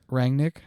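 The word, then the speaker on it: Rangnick: probably haven't looked at how to properly pronounce that man's name is that actually going to change nick rang nick yeah you just said all right good job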